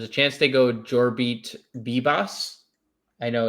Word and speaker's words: Vivas: Um uh the Yankees will probably play um there's a chance they go Jorbeat Bbos. I know it's spelled the Vivas, but it's BBOS is the pronunciation.